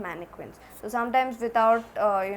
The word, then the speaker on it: mannequin: thing so mannequin okay it's probably pronounced as mannequins not manic quinn it's mannequin in english mannequin in french so mannequin means a